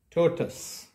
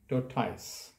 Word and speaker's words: tortoise: on the screen is pronounced as tortoise not your ties so all the words